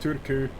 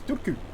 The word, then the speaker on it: Turku: you're not you're not turku and that's actually how you pronounce it i looked it up on wikipedia it's dooku it's really uh yeah